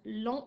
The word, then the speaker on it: long: le mot l'ont donc long et masculin il s'écrit l eau n g le gie à la fin de l'an il est muet je ne l'entends pas je peux utiliser long